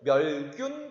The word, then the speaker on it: 멸균: 그래서 멸균이라고 읽어야 되고 멸균 그러면 버섯을 없애다 라고 풀면 안 되겠죠.